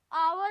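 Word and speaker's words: hour: पर जो इसका साउंड आता है ना, आप ध्यान से पढ़िए, आवर आता है, ये आवर, ऑनेस्ट। जो एच होता है ना वो साइलेंट होता है इन दोनों वर्ड्स में।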